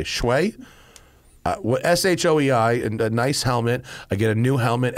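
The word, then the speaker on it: Shoei: have a showy is how do you pronounce s-h-o-e-i shway s-h-o-e-i and a nice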